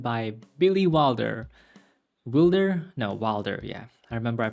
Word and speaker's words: Wilder: No, Wilder, yeah. I remember I pronounced it wrongly before, and people told me that his name is pronounced Wilder, so it should be Billy Wilder.